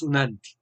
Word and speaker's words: ONANTI: Y bueno, eso es UNANTI, ¿no? Se escribe ONANTI, pero se pronuncia UNANTI.